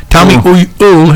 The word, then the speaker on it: Elwell: Tommy Elwell. Elwell. Tommy Ul. Tommy Ul. It rhymes with mule.